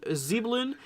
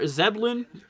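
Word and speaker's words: Zebulon: here towards coats uh let's go see zeblin or zeblin as z-e-b-u-l-o-n I think it's zevlon uh depends on how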